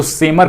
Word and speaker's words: Seymour: तो सेमर ग्रे ने इसको बनाया था, ये भी यहां से जान लीजिएगा, सेमर ग्रे।